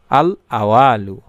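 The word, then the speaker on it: الأول: আমি সংক্ষেপে তুলে ধরছি উচ্চারণটি আমি আবারো দেখায় দিচ্ছি বাংলা আল আওয়ালু আল আওয়ালু এইভাবে আপনাকে পড়তে হবে এই নামের অর্থই হচ্ছে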